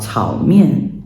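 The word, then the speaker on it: 炒面: I think that is like the maybe Cantonese pronunciation for, in Mandarin, what would be called chao mian.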